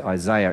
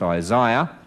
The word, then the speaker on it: Isaiah: i know you say isaiah in america well that's incorrect the eye is in the middle it's isaiah uh you can see